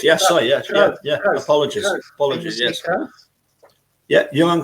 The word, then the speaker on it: Cruyff: was a picture of Ajax and Johan van Cruyff. Johan Cruyff. Yeah. Sorry, not. Did I say Van? Why did I say Van? You said Van Cruyff. No. Johan Cruyff. Yeah, sorry. Yeah. Cruyff.